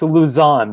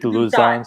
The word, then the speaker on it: Lausanne: And it's Lausanne, by the way, Lausanne, Switzerland. Thank you. Yeah, I knew I was really not pronouncing that right.